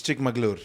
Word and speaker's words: Chikmagalur: How was Chikmagalur, bro? Hey, it's Chikmagalur.